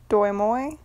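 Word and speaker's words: Đổi Mới: But in 1986, they stopped that shit with, I think it's pronounced Doi Moi, D-O-I space M-O-I, renovation, because they were having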